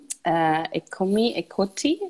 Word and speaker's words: Eccomi, Eccoti: So we've been streaming your film, Eccomi, Eccoti, is that correctly pronounced?